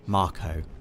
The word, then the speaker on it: Mako: now this is a Mako reactor Dave officially pronounced Marco right but I've always I've would pronounced it I was about to say officially it is Marco doe and you can